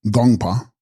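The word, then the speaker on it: དགོངས་པ: Text, Gongspa, pronounced Gongpa, thoughts or mind, and being in the honorific form, divine mind.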